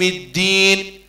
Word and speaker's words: الدين: تقرأ تاء، ملك يوم الدين، لو كان ما تبينش حرف الدال يولي تاء، لأنهما يخرجان من نفس المخرج. ما تقولش ملك يوم الدين، ملك يوم الدين، الدال لازم تنطق دال باش ما يوليش تاء.